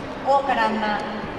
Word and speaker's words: 桜花乱咲: はい、大からんま桜乱れ咲くと書いて大からんまと読みます。